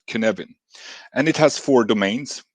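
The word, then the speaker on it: Cynefin: to a certain problem since it's Wales this is pronounced Kevan I think any Wales people will probably uh will probably hit me for that pronunciation but okay I'm going to say Kevan and it has four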